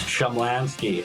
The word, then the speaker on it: Shumlanski: It's Shamlanski. I thought you Schlam Schumlanski.